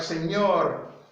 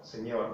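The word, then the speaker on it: señor: you have instances well like senor senor senor you know like it's produced like the end in onions onions onions onions and onion onions saying senor which is sir then here you have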